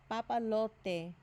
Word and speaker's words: papalote: The letter P. Papalote. Again, you don't really purse the lips, it's just like the lips barely touch. Papalote.